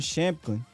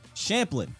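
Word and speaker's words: Shampklin: they wave injured Aaron shamkin champion believe I think the end is actually Champlin the K is silent so Aaron Champlin and they wave injured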